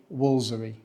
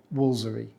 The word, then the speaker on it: Woolfardisworthy: really difficult to pronounce as it's spelled the locals say wolery they don't say wolar disw worthy or W